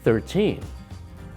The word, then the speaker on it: thirteen: So Jay stressed the second syllable there. I said 13. How many days until my birthday? 14. Vicky stressed the second syllable there. When we say the number on its own, we stress the teen.